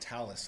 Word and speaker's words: Thales: The program that we're using, if you saw that come up there, it looks like Thales, but it's pronounced Talus, and that is actually provided to us by the Arizona State Department of Homeland Security.